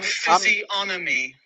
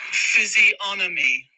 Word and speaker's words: physiognomy: Physiognomy. Physiognomy. Physiognomy. G silent. Yeah. Robin. Physiognomy. Physiognomy. Yeah. I thought the G is not pronounced because it's like sign or okay. Physiognomy. There's no G.